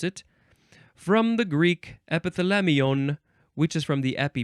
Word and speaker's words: epithalamion: You can also spell it with an O-N at the end. That's different. Epithalamion. Epithalamion.